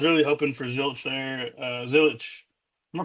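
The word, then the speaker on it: Zilisch: Zilich, am I pronouncing that right?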